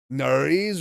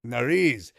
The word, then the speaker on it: nariz: Nariz rhymes with Paris. Easy to remember. Nariz.